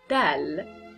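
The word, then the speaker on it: دال: next letter which is dal dal which is just like a D in English just the letter D so pronounce it like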